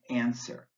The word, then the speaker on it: answer: T in fasten and the W in answer plumber folk cupboard fasten